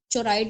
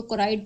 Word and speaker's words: choroid: इसको सीएच से ये शुरू होता है। तो इसको चोराइड नहीं पढ़ना है। इसको कोराइड पढ़ना है। एच साइलेंट होता है।